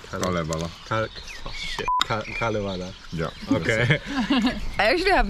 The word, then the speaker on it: Kalevala: Kalevala. Kalevala.